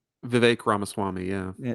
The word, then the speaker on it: Ramaswamy: you can say his name I can't Vivek ramashami Vivek ramaswamy yeah yeah it's something you didn't make fun